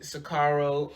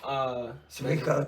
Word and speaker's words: Sirico: Tony Sicaro. Sirico, Tony Sirico. Sirico, I always say his name wrong.